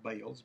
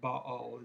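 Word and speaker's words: Baal: the balls we call what we call bales but ba'al is the actual pronunciation in hebrew and the ashraes the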